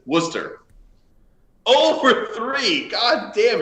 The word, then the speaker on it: Worcester: I forgot was uh we're chestershire which is what everyone says but it's Worcester oh for three God